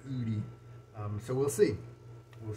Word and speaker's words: Oudy: i like it and ud i maybe said udi would i'm sorry because it's spelled o-u-d-y-o-o-d is how i'm reading that and so i guess it's supposed to be extra oody um so we'll see